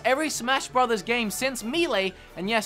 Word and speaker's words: Melee: Smash Brothers games since melee and yes that's how we pronounce it in Australia at least as how I pronounced